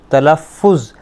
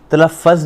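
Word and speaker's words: تلفظ: तलफ़ुज़, तलफ़्फ़ज़ नहीं कहना, तलफ़ुज़, ठीक है।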